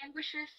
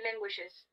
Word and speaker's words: language: language the final sound the final sound is a very difficult sound for us in spanish because the final sound is a sound we don't have in spanish okay the final sound